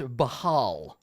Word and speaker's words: Baal: So Whoa, it's Bane according was- according to the book, it's pronounced Bahal.